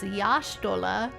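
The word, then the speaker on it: Y'shtola: The technical pronunciation is Yashtola.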